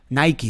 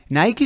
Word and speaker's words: Nike: be nike and before nike sorry we say nike in spanish so nike is the correct way of pronouncing the name of this company and before starting it'll